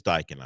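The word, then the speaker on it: Daikin: So it is Dyken, right? It is Dyken.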